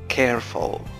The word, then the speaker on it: careful: Careful. لاحظ النطق careful ليس careful careful أو careful. هذا ليس نطقا صحيحا. Careful. Careful. وك هناك aspiration حرف صوت يشبه الهاء يخرج بعد نطق ك.